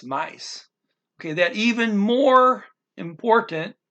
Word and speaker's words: mais: The word for more is mais. M-A-I-S, mice.